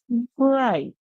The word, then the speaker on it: bright: you to get it remember the I makes a song The G8 stays silent word so we hear we have i g so our word there is bright Gite bright what does